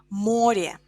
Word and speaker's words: море: Например, море, море, a sea, море. Море in plural, моря. Море, моря. Море, O is stressed in singular.